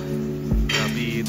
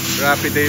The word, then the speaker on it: Rapide: Rapid. Ano ba ang tamang bigkas? Rapiday pala.